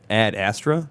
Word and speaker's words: Ad Astra: ] beer okay so we saw uh Ad Astra that's how it's pronounced right yes okay with a Brad Pit